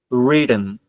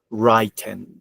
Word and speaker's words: written: but no no that is not a correct pronunciation don't forget is written or written if you want to say pronounce the T written or written but no don't don't pronounce it Wren no no that is not correct writing and